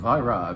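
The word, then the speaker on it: Vajra: this time representing Italy is a wine from VRA V A J R A is how you pronounce that I think I told you about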